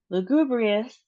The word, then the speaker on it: lugubrious: Lugubrious. We have four syllables and then we have that emphasis on the second syllable.